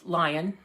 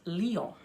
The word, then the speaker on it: Lyon: l y o n which we would pronounce lion lion but it's pronounced leo okay and so we